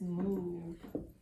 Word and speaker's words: move: talked about this before when we see magic e we want to make that o say oh we want to say mole right we want to use that rule but trick words don't follow rules that's rather trick words trick words do not follow with all those rules so this word is move move over move over